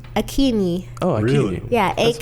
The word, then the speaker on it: Akinyi: like AKEEEE Yeah. NYEEEE or something like that. Emphasis on the E's.